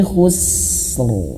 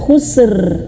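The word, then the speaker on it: خسر: Nah, ini juga sama khusus bukan khususr. Nah, ini banyak sekali yang salah. Bukan berarti saya menyalahkan yang lain, tapi termasuk saya juga dulu waktu belum belajar tahzin itu ya. Ini salah banget ini ya. khususr ya, khusus atau bahkan khusus saja. Khusus rnya hilang.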